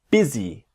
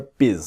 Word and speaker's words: busy: So the word busy is always a E, busy, never biz.